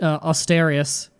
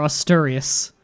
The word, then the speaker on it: Asturias: he wants to take lost Asterius or asturias so I'm gonna get yelled at no matter how I pronounce it a lot of